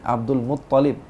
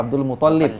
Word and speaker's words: Abdul Muttalib: Ingat teman-teman Nabawi, Abdul Muttalib. Tajdidnya di ta bukan di lam. Iya. Ya. Kita banyak yang salah Abdul Muttalib.